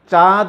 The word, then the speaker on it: চাঁদ: তোমরা যখন চাঁদ উচ্চারণ করো, চাঁদ, চাঁদ উচ্চারণের সময় আমরা কি চাঁদ বলি নাকি চাঁদ বলি? আয় আয় চাঁদ মামা টিপ দিয়ে যায়, এই যে চাঁদ, এই যে চাঁদ বলার সময় আমরা চয়ের উপরে কি বসিয়েছি? চন্দ্রবিন্দু।